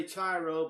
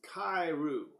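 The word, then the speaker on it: Chi-Rho: on this particular subject now we all say tyro but in fact is pronounced khayru it is known also known as Chrisman that's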